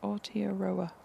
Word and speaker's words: Aotearoa: Oh, so I pronounce it Aotearoa.